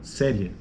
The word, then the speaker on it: série: acionista na mesma sílaba próxima palavra série série série série série série da mesma forma o pico da sílaba não da palavra mas da sílaba série são duas sílabas srie o pico da sílaba aqui ó série veja que a vogal e que fica mais forte Então você tem uma